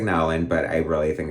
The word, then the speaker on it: Nowlan: I think it's Nolan. Like, it looks like Nowlan, but I really think it's Nolan.